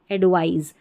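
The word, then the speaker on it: advise: ये इतना ध्यान रखना आपको यहां उच्चारण में सी का उच्चारण स है। यहां पर एस है ना इसका ज है एडवाइस।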